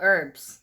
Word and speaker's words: herbs: No, herbs. That is silent H.